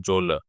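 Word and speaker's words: genre: जोलर। जोलर pronunciation इसका बहुत ही different है।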